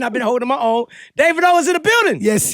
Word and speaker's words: Davido: name to be pronounced I honestly I don't care but it's actually Davido okay so what is deito like why did they say that deito I don't know people